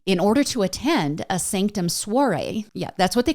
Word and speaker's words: SNCTM: the Showtime series Naked Sanctum. I didn't know about this series, and Sanctum is spelled in all capital letters, and there's no vowels, so it's just SNCTM, so Naked Sanctum.